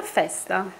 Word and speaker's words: Festa: this morning to welcome Beatrice, how do you pronounce Beatrice? Beatrice. Beatrice, Melodia Festa, and I like the Melodia. And no, Festa. It's Melodia Festa.